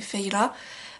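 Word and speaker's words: Feyre: Alors je sais qu'on dit pas Fer, c'est Feyla, mais disons que comme je vous l'ai déjà dit, je prononce à la française.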